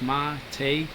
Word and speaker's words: mate: the name come from the name mate pronounced ma take comes from verba mate